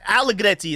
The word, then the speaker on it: Allegretti: So I can't even try to pronounce it like the regular American English way, like Greed, I don't even know. So Allegretti is how I'm just gonna pronounce it. It's so much smoother and easier for me just to do it the Italian way.